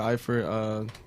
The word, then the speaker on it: Eifert: Okay, so for my starter, I'm going to go with Tyler Eifert. I believe that's how you pronounce his name. Yeah. Yeah. Eifert.